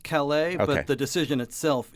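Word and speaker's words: Callais: Is it Calais? Are they saying it in the French way? Or are they saying callous, which is the mispronunciation of our co-host's name? Well, I think it is pronounced Calais, Okay.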